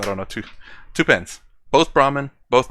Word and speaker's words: Brahman: When you say your pen is only a part of Brahman, Brahman, that's the way it's pronounced.